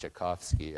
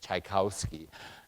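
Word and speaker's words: Tchaikovsky: He was so kind to me when I mispronounced Chaikovski. I probably said Tchaikowski and he what did you say?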